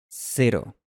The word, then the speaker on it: cero: Si has logrado mantener el mismo sonido durante todo este tiempo, ahora puedes pronunciar este sonido del español en las palabras cero y pero.